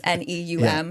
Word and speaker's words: Neum: I don't know how you pronounce it. It's Neum.